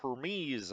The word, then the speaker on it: Hermes: carrier the er the hermes out i guess it's pronounced hermes i've been told um but that was